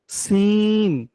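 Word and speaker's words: سين: হুম, এরপরে দেখুন সিন। হুম, সিন। ঝা আর সিন কিন্তু একই জায়গা থেকে উচ্চারণ হবে, জিহ্বার আগাটা সামনের নিচে দুই দাঁতের পেট ও আগার সঙ্গে।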